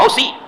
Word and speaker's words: حوثی: وہ ہوتی نہیں ہے، حوثی ہیں.